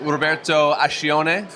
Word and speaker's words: Roberto Ascione: I'm here with Roberto Ascione. Did I pronounce that correctly?